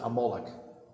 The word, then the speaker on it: Amalek: another Nation appears it's a nation called amalek and you should pronounce it amoloch amalek fights against the